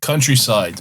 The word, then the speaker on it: Countrycide: Countryside, but it's spelled like homicide or Yeah. like suicide.